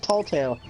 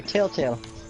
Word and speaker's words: Telltale: It's Tall Tale. It's Telltale. Telltale. Telltale.